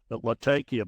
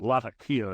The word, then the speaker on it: Latakia: I've been called down for mispronouncing it several times. Latakia, but Latakia is what I was told.